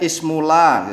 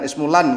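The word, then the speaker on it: اسم لا: Cara bacanya ismula gitu ya, jangan ismulan gitu, sulit nanti memahaminya.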